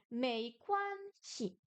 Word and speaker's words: 没关系: Est-ce qu'il y a un ton sur le shi? Non. Mei quan shi. Ce n'est rien, ce n'est pas grave. Le ei se prononce comme ei en français et quan comme quan.